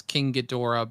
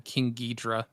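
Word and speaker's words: King Ghidorah: Uh the the pronunciation's different. Like generally it's King Gdora, but I think in some of the earlier Godzilla movies they called him King Gedra.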